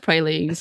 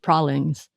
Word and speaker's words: praline: I said pralines because that's how I have heard it. And then when we were in Loretta, someone said pralines. Yeah. Pralines.